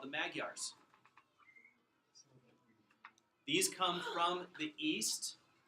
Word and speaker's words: Magyar: Magyar.